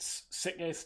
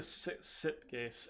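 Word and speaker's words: Sitges: how to pronounce it sickness terramar hey I don't I don't know how to pronounce it it's Spanish but terramar that it's like a sip case s-i-t-g-e-s but it's like it's a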